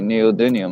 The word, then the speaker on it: neodymium: So where do most neodymium magnets come from? That's my I question. Who knows? Where do you think? How do you spell dynium? D-Y. Say it. Hit the mic and say neodymium. Let's spell it out.